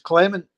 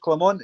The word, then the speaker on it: Clement: He says don't call him Clermont. He says, but he's Belgian. He says that's how his name's pronounced, Clermont. He says, well, we don't pronounce Paris, do we? It's Paris. We're not Belgian, we're Scottish. It's Clement. Good point.